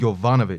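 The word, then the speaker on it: Yovanovitch: How do you pronounce it? Yvanovich. Yvanovich.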